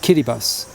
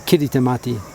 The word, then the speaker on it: Kiritimati: And if you look at the spelling, it looks like it's spelled kitty kittyati or kitty tamati for Christmas as well because the the t the ti is an is an s.